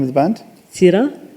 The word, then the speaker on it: Seera: Seera. It's spelled S-E-E-R-A.